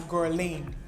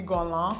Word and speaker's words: Guerlain: a French brand, and in the past I used to pronounce this as GUERLAIN. Okay, as an English speaker, it makes complete sense that I would pronounce the brand name like that, but it's actually GUERLAIN or something like that. That's how I hear almost every French person pronounce it.